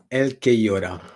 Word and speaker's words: Elquellora: It's a Spanish nickname, so it's Elquellora.